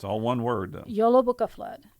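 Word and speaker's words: Jólabókaflóð: o d flood it's all one word though YOLO Booka flood it's the Icelandic Christmas book flood that's that's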